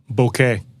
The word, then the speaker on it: bokeh: It's a Japanese word, so I think it would be like bokeh.